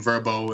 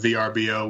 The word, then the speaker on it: Vrbo: home away and verbo which is new pronunciation verbo instead of VRBO which it was formerly known as and we're really excited